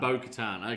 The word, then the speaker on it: Bo-Katan: Is that how you pronounce it? Bo-Katan. Bo-Katan.